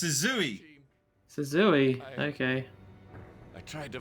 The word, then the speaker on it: Suzui: It's Suzui.